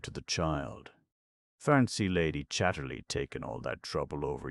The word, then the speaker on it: Chatterley: Why isn't Lady Chatterly good dear? My word, you're a lucky girl this morning. She pronounced the name as all the people did. Chatley.